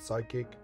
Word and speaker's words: psychic: you played a trick the p is actually silent in the word psychic it's like you're always